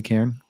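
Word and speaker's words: cairn: Presenting a personalized Am I pronouncing that right? Is it really Karen? Yeah. Yeah.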